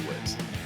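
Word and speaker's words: Wiz: blog from our friends at whiz wise whiz it's definitely whiz uh detailing some research it's not cheese whiz by the way but pronounce it the same was going to be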